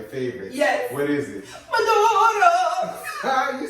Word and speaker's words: maduro: Maduro.